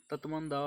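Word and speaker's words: Tatmadaw: Question number 3 इज तत्मंदा, इसे ऐसे pronounce करते हैं, तत्मंदा will use Facebook to counter miss information.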